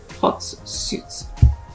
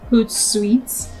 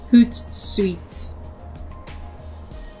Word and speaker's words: Hootsuite: move on to uh let's move on to hot suits guys i am so sorry i have been pronouncing this wrongly it is actually pronounced as hood sweets i made a lot of this mistake throughout